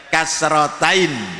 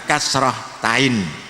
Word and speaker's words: kasrotain: Kasrotain ya. Kita sebut dengan kasrotain bukan kasrohtain atau kasroh tanwin.